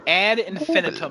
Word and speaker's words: ad infinitum: Ad Infinitum is how it's pronounced.